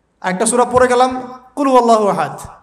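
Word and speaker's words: قل هو الله أحد: আল্লাহু আহাদ মানে কি এটা উচ্চারণই বা কেমন করে করতে হয় কুল বলুন হু আল্লাহু আহাদ তিনি আল্লাহ এক এই যে কুলহু আল্লাহু আহাদ অনেকেই বলতে পারে না কুলহু আল্লাহ কুলহু আল্লাহু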